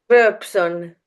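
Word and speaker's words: Rööpson: Ros rson how do you say your surname verson oh yeah see verson you're doing better than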